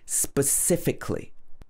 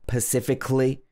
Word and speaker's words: specifically: So this has got 4 syllables. Specifically. Specifically. A lot of people might say specifically or pacifically. It's not Pacific. It's got a sp at the beginning. Specifically, not pacifically.